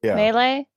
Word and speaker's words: melee: It's melee. Mm-hmm. Everybody's so fancy. French word, right?